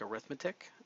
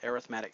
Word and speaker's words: arithmetic: an arithmetic uh I know it looks like arithmetic uh it's pronounced arithmetic sequences uh these are sequences and these are